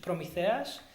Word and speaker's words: Prometheus: I'll do the Greek pronunciation, Prometheus and Epimetheus.